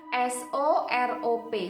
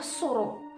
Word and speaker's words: Sorop: berjudul sorop judulnya sorop tulisannya Emang benar s o r o p tapi bacanya bukan sorop ya bacanya surup surup itu berasal dari bahasa Jawa yang artinya sendekala sendekala